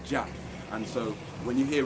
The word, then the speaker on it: Jah: The first Anu, or Jah, and yes, it is Yah, but as Nazarians, we came up with the word Jah. That's how we pronounced it, even though there weren't no J in Hebrew. For us, we pronounced it Jah.